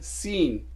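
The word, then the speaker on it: سين: लेकिन इसे बोलते हैं सीन, आपकी ज़ुबान दांतों को टच नहीं करती, पीछे रहती है, सीन दांतों के पिछले हिस्से पे रहती है।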